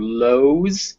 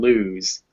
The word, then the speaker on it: lose: not helping at all we'd expect those words to be comb or lows but they're not they're come and lose so you're right oh